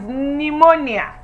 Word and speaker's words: pneumonia: not pronounced number five what we have is pneumonia the p is silence number six we have